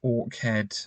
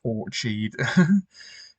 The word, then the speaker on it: Orkhead Square: Yeah, I think it's pronounced Orkhead, not Orchid. Yeah, I think it's pronounced Orkhead.